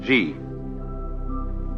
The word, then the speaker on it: Ji: easier to remember than Chinese and easier to pronounce. First of all, the world that is called Ji, J-I.